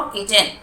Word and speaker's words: kitchen: Kitchen, KIT मिलकर च बनता है, CHEN चिन, टी साइलेंट रहता है बच्चों, किचन।